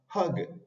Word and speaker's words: hug: de la h y la a abierta de la palabra de la letra u cuando está en una sílaba que termina en con como la palabra hug hug y Pipe en este